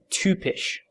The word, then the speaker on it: typisch: in in German it's typisch. Tupish.